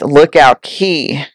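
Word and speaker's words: Lookout Cay: the first guest to experience it and it's Lookout key c-a-y is spelled is pronounced key key look out Carrie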